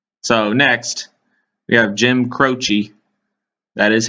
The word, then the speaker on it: Croce: we'll see okay so next we have jim croce that is how you pronounce his name because i looked it up